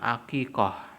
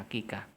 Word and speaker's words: aqiqah: Iya kita diperintahkan untuk aqiqoh atau aqiqah berbahasa Indonesianya dibacanya aqiqah Iya untuk apa untuk